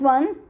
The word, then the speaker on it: au: This is pronounced as o, not au, right?